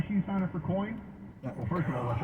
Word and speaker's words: Coign: Now, why should you sign up for Coin? Well, first of all, let's understand, it's spelled C-O-I-G-N. Sounds just like the coin you have in your pocket, right?